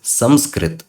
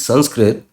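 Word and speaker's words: संस्कृत: English written as Sanskrit now you know the correct pronunciation of Sanskrit is samrit Sam srit with a ma samrit because this anusar this will be replaced by m m so this Sanskrit it is wrong it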